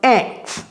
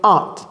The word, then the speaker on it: aunt: Alors, il y a des gens qui prononcent ça « ant ». Mais vous savez, les fourmis, ça se prononce comment? « ant ». Donc, ne confondez pas tante et fourmi. C'est pourquoi c'est mieux de dire « aunt » pour la tante et « ant » pour la fourmi.